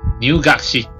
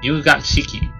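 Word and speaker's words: 入学式: I think it's pronounced as Nyugakshiki. Yes, Nyugakshiki.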